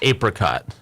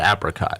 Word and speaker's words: apricot: stand by is uh it's apricot not apricot oh I always said apricot um I think